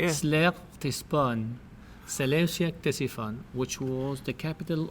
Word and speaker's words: Seleucia-Ctesiphon: This That last one is the hardest one to pronounce. How do you say it? Seleucia-Ctesiphon.